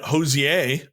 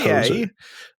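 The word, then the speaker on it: Hozier: And then Hosier, I think it's actually pronounced Hoser.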